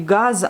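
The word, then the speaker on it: газ: Et le mot gaz en français et gaz en russe, des fois vous allez l'entendre comme gaz, mais c'est bien le Z qui s'écrit à la fin du mot, mais vu qu'elle est précédée par la voyelle, donc qui est sourde, on va la prononcer comme S.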